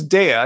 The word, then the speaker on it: Daya: Yeah, I mean those Daya, yeah, it's Daya. That's how you pronounce it.